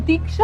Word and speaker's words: दीक्षा: एक मिनट, तुम मुझे रिक्शा क्यों बुलाते हो? मेरा नाम दीक्षा है।